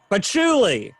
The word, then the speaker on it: patchouli: are in the air am i pronouncing that right patchouli patchouli yeah i was like that